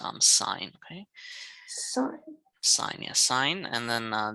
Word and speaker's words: sine: um this is from the greek word it's pronounced um sine okay sinus sine and then this is cos